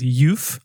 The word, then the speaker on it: Euph: Funny fact about that is that I think when I wrote that it's spelled e u p h and you you read it as oof and I originally thought of it as euth like euphoric and I was